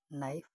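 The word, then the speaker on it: knife: बोले नहीं जाते यथा नाइफ में के साइलेंट है नाइफ साइकोलॉजी में प साइलेंट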